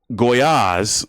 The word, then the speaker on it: Gollaz: Well, anyway, Top Ring has this card down in Mexico and Lindalfo Delgado should go on to lose to Gabriel Goyaz. That's how you pronounce his name.